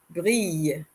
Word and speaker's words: brille: Brille, brille. Double L in French is not always pronounced le, L. So, in this case, we have it being pronounced more like the letter Y, y, y. Brille, brille.